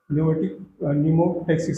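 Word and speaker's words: pneumotaxic: जो ये neural signals है ये इससे पॉन्स रीजन में जो है न्यूमोटैक्सिक सेंटर, ये पी साइलेंट होता है, न्यूमेटिक पढ़ा जाता है।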